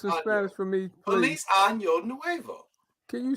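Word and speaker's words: Año: now I got it right Sean I think I know you butchered it up it's on Yo not I know I'm your Nuevo yes no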